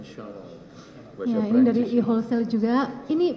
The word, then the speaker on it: Chanel: satu unit channel I chanel chanel bacanya shanel ini dari eolesale juga